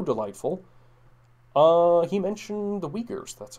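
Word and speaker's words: Uyghurs: fellow who's so delightful uh he mentioned the weakers that's how you pronounce this we didn't figure out the science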